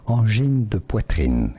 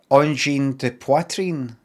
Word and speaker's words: Angine de poitrine: Angine de poitrine is the French pronunciation. French-speaking part of Quebec. Angine de poitrine is the Angine de poitrine. French pronunciation. Angine de poitrine.